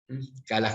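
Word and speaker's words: Calás: la autora Alina calas calas con acento en la a en la segunda es un trabajo de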